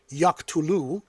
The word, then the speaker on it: yaqtulu: First, there is the long form pronounced yaktulu. Notice the final oo marked the verb as indicative meaning real ongoing or future action.